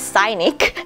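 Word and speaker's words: Scinic: super mild sun essence i think i pronounced it wrong actually it's cynic it's the cyanic in korean sorry this is a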